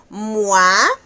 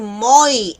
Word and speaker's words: moi: Esta palabras, este sonido es bien importante y es bien fácil tropezarnos con la pronunciación porque muchas veces podemos incluso llegar a decir moi en vez de mua.